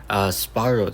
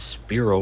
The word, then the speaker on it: Spyro: Soon, Spyro Tech, which I actually accidentally mispronounced as Spiro or whatever, but he says, so